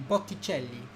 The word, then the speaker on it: Botticelli: um the painter botticelli we say botticelli would be botticelli in italian so we've got that ce which again is being pronounced as a cha so yeah um actually